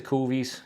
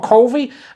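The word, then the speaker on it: cuvée: don't have at all kofi and I just always say it like that instead of cuvee cuz it's way more fun anyone's gonna notice me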